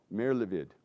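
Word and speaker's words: Merlevede: And you can pronounce his name for me correctly. Patrick Merlevid. Merlevid.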